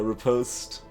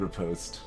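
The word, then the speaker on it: riposte: and uh activate um it's basically arbitray which which way I want to pronounce this but I guess I'm living in the state so I'm supposed to say repost and I think that's the the most recognizable pronunciation so we we'll go with repost so damage them Markham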